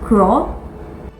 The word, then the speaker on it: Kuoe: So the right name to pronounce brand is Kuoe.